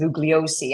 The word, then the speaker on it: Bugliosi: like Vincent Bugliosi, and I'm Greek, so I say his name is Bugliosi. I'm going to say it as I see it.